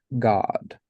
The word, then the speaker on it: Gad: got God so um in English we would pronounce this as Gad with a kind of a long a sound um but in in Hebrew it's God gov all right this one's